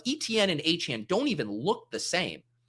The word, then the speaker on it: Etienne: It's not Etienne. Stop calling me Etienne. This dude says that the correct way to pronounce his last name, that is spelled E T I E N N E, is Achane.